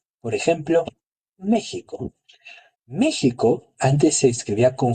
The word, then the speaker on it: México: Más allá de ser una moda, tenía una función, respetaba eh fonéticamente la pronunciación de los grupos indígenas en México y ayudaba a los españoles a pronunciarla como una J.